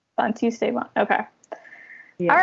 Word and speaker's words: Santisteban: Yes, Santisteban. Santisteban.